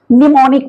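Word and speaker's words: mnemonic: मनेमोनिक है ना तो इसको पढ़े यहां पर ए होंगे निमोनिक बोलेंगे इसको निमोनिक स्मृति सहायक है ना य निमोनिक है य एम साइलेंट है तो ऐसे होते हैं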